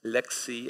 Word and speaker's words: LXC: these letters these acronyms one way to pronounce them is to say Aleksey or lxd however the official documentation of of the project says at the very beginning that we pronounce them Lexi and LexA T for my